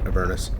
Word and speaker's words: Avernus: I always thought it was pronounced Avernus, but I always pronounce those sorts of things wrong in my head, so I have to assume that somebody talked to them about how it's supposed to be pronounced, and they pronounce it Avernus, so.